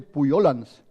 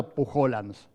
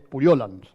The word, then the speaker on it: Pujolans: En realidad, ¿cómo se dice? Puyolans, porque es catalán, ¿eh? Entonces me dijo que no era Pujolans, es Puyolans.